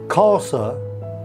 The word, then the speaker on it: Xhosa: said in his language which is pronounced casa which is a South African dialect he said the skunk